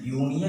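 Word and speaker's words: union: लेकिन नहीं, यूनियन का जब प्रोनाउंसिएशन करते हैं तो पहला अक्षर जो आता है य आता है, का य आता है, और यह एक क्या है, स्वर है या व्यंजन है।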